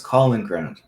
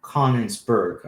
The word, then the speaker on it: Königsberg: I think it's Kaliningrad. No, that Prussian state was called Königsberg. I said it wrong, but that was a huge hub for this Enlightenment thought.